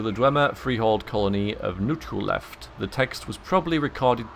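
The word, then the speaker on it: Nchuleft: So anyway, the Lusty Argonian Maid and the Chronicles of Nuchu Left is apparently how it's said, and that makes perfect sense, actually.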